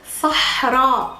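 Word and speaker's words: صحراء: Anyways, Sahra. Sahra. Sahra, desert. Sahra. You have to make this at the ending pretty clear.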